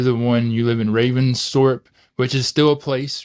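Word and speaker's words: Ravensthorpe: Army you were the one you live in Raven storp which is still a place right is that how you say it Raven Thorp yeah Raven Thorp yeah so that you are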